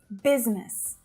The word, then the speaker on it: business: Business. Now, it really does look like there should be 3 syllables there, right? But it's not.